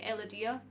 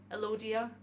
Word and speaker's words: Elodea: It just prefers to float around a bit like Elodea or Elodia, some people pronounce it as.